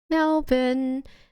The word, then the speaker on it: Melbourne: Melbourne. Melbin, if you want to pronounce it correctly.